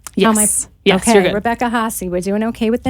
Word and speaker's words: Rebecca Hahessy: Am I pronouncing your name? Yes. Yes, you're good. Rebecca Hahessy.